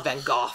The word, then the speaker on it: Van Gogh: The British pronunciation of Van Gogh, which is Van Gogh.